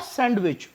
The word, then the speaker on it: sandwich: सब लोग जानते हैं सैंडविच नोट सैंडविच सैंडविच नहीं होता डी साइलेंट रहता है सैंडविच एनी पर्सन